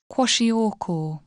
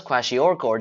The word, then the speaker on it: Kwashiorkor: The disease is called Kwashiorkor, and yes, I admit it, I had to search up how to pronounce it. Kwashiorkor.